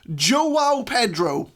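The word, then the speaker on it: João Pedro: And, Old Lady Plays has left me a comment in one of my other videos saying that it's actually pronounced Joao Pedro.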